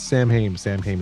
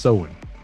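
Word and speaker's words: Samhain: this movie they're talking about you know it's Sam ham it's actually pronounced sewing his name is Sam but where you see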